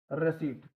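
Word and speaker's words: receipt: तो जैसे साइकोलॉजी, इसमें पी है लेकिन बोला नहीं जा रहा है ना। निमोनिया, इसमें पी है लेकिन वो भी साइलेंट है। रेसीट, इसको क्या है गाइज, रेसीट बोला जाता है। तो यहाँ भी क्या है, पी साइलेंट हो रहा है।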